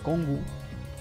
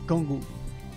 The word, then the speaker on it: Cong: la que lo llama as que con se pronuncia congu y pues es por eso que lo correcto es decir congu así lo llama sasu al señor el rey